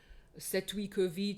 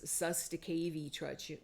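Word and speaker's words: cestui que vie: out of our own Setwikovi Trust, which a lot of Americans mispronounce as Sustakavi Trust. You might have heard of it, but it's Old French. It's Setwikovi, and I've spoken about that on my podcast several times.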